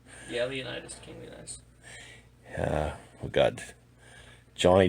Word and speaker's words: Leonidas: Leonidas? Yeah, Leonidas, King Leonidas.